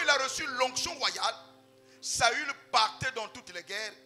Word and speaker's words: Saül: vaillon guerrier qu'on appelait Saul Saül pour mieux prononcer saü lorsque le prophète Samuel